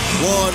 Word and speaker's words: Juan: Especially when you hear the name Juan Manuel Marquez. You know that means trouble as soon as the Jar comes out. Although it's pronounced with a W as in one.